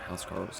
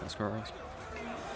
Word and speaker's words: huscarl: Oh, they are, because they are engaged against the Huscarls, or Housecarls, depending on how you say it. I would say Huscarls.